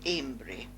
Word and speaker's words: Almondbury: Moving along Britannia Road, we cross into Lingards in the parish of Almondbury, what I call Amesbury, the old pronunciation.